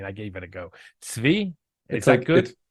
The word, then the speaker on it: Tzvi: Tzvi? Is that good? It's like a tsetse fly. Tzvi. Tzvi.